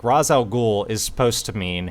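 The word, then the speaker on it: Ra's: of the word like razal ghoul is supposed to mean head of the demon in Arabic and okay the word Raz is pronounced Ros they're saying it correctly in the movie If you're looking at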